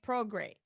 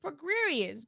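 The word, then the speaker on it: Prograis: know that i know regis pro grey is pronounced we just prograde but carol spence called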